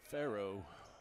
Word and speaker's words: Farrow: Farrow, like the Pharaoh, just not spelled the same.